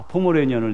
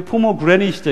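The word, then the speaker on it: pomegranate: 그래서 제가 종종 말할 때 영어로 이렇게 대충 보고 포메라니언을 내가 참 좋아합니다. 잘 먹습니다. 그랬더니 그냥 미국 사람이 눈이 둥그래가지고 웬 포메라니언을 먹어? 네가 개고기를 먹어? 이러면서 근데 포메라니언이 조그마한 강아지잖아요, 그렇죠? 제가 그렇게 발음한 적도 있어요. 이게 포머그래닛이죠. 이건 포머그래닛.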